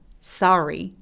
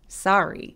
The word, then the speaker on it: sorry: 단어들과 똑같이 뒤로 당겨줍니다 자 미안해는 어떻게 발음할까요 쏘리보다는 턱 길게 모음은 단어들도이 입술 쭉 내밀고 ree ree 이렇게 끝납니다 왜냐하면 알로 시작하는 음절들은 입술을 다 내밀기 때문이에요 Sorry Sorry 자 두 번째는 wr로